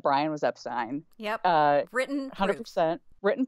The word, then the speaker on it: Epstein: as vake has cited the family says it Epstein so we decided to ask a member of